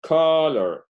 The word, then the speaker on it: color: Colorear es color. El acento está en la primera sílaba, por lo cual la regla no aplica, no se duplica nada.